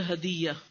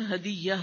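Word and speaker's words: هدية: हिस्सा है वला तरल ह दिया अच्छा हम लोग ह दिया कहते हैं उर्दू में में लेकिन अरबी प्रोनंसिएशन हदियाना है अरबी हदीस तो फिर आप इसको सही प्रोनाउंस कीजिएगा वला तरु दल हदियाना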